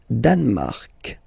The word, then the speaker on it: Danemark: Le Danemark. So same sound here, this k and then this Q-U-E, well, they will produce the same sound here.